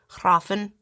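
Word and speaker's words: hræfn: And then so it's hrah hrah hrahfen. With a little bit of a trill r, again. You know, and and the f is supposed to be kind of like a v. Hrahfen.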